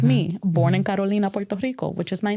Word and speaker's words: Carolina: It's not Carolina. We'll say that. It's not Carolina. It's Carolina or Carolina.